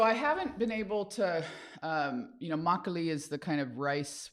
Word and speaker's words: Makgeolli: Makgeolli. Broccoli. There's a G in it, which you can't tell from how it's pronounced.